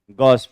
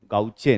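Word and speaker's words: gauche: गॉस form, गाउचे नहीं यार, गॉस form, ठीक है?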